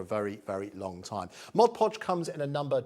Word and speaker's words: Mod Podge: website as quickly as you can this is mod podge often mispronounced as modge podge i've called it modupodge for years there we go mod podge is officially what it's called comes with a